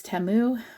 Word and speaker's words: Temu: that I got from teu um and yes I I know it's TAMU but my brain is going to assume they're pronouncing it wrong and not me um but the first